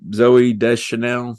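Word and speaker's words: Zooey Deschanel: ends up being Buddy's friend in the movie Zoe de Chanel I guess I pronounce that right that's right you got it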